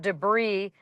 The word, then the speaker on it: debris: No, but they it says broom clean and free of debris. Debris is a French word I can tell by that not pronouncing the s. Debris, which has an s.